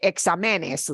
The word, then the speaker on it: exámenes: You know when I say exámenes, like what? Exámenes. Nobody says exámenes. If I didn't write in an accent mark, it would have to be pronounced exámenes. It's not pronounced that way. It's exámenes.